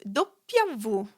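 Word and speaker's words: doppia vu: And then we have dopia vu.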